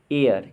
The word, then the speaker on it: heir: और देखेंगे नेक्स्ट देखेंगे HEIR, एयर, एयर में कौन सा साइलेंट है, तो इसमें साइलेंट है H साइलेंट है।